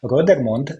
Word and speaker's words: Rodermond: uh today I'm joined by uh just in rodermond hope I pronounced your last name correctly exactly and I